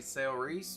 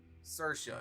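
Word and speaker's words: Saoirse: seen this name and it's not pronounced like how it looks I know it's wrong but I want to say sale Reese or something like that yeah what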